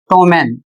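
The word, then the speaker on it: ptomaine: अगला शब्द है पी टी ओ एम ए आई एन ई इसे पढ़ा जाएगा टोमेन और इसका अर्थ होता है भोजन के सड़ने से बनने वाला विष अर्थात जहर।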